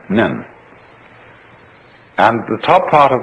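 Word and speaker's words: 念: They have a very interesting sign this it's pronounced nyun in Japanese nin and the top part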